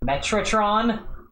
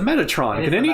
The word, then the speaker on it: Metatron: Metratron? It's spelt Metratron there too. Oh my god, that's a big typo. I'm not crazy, right? It's the Metatron.